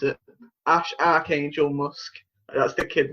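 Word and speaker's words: X Æ A-Xii: Yeah, and that's pronounced Ash Archangel.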